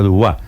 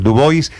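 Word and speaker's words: Du Bois: por este señor dubis no se pronuncia dua es el señor dubis para negros Karim Abdul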